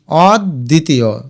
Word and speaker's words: অদ্বিতীয়: এটা উচ্চারণ করে দেখো অদ্বিতীয় অদ দ্বিতীয়। তাহলে একবার অদ লিখো। তারপরে দ্বিতীয় অন্তস্থ কিন্তু শেষে ওকার লিখি। আর এখানে দর নিচে বফলা আছে এটা দ দুইবার হয়ে যাবে। তো লিখতে হবে অদ্বিতীয়।